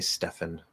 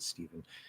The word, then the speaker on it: Stephen: I always want to say Stefan. Pretty sure he pronounces it Stephen.